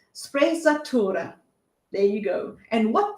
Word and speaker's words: sprezzatura: has adopted so let me just get the pronunciation correct it's sprezzatura there you go and what this means is